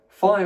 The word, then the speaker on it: phi: Phi ought to be transliterated as PH. Remember, phi should be pronounced P, but it came to be pronounced F, and it is in fact transliterated as F, PH.